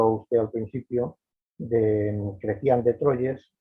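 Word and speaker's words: Chrétien de Troyes: obra que mostró a usted al principio de crecían de troyes pronunciado así un trovador francés de la provenza que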